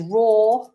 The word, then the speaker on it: raw: If something is raw and it's uncooked, raw, which is exactly the same pronunciation as the sound a lion makes, a roar.